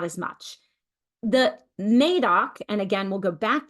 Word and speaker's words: Médoc: So if you are confused about how to pronounce it, it's Médoc, like aqua, ac. So Médoc.